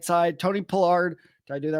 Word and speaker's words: Tony Pollard: I thought you got over it, but no, you actually said it wrong again. It is Tony Pollard.